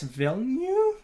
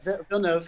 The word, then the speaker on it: Villeneuve: Anyways, if you don't know what Sicario is, it's basically Denis Villeneuve. Is that how you pronounce his name? He's French. Yeah, Villeneuve. French Canadian. Villeneuve.